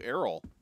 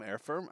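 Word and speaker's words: Earreffam: tabbies i love silvertoe i keep calling you errol your name is e-a-r-r-e-f-f-a-m air firm i cannot pronounce that name i have a really bad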